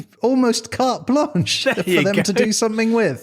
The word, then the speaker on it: carte blanche: say that say it right yeah it's almost carte blanche yeah to do something with oh beautiful anyway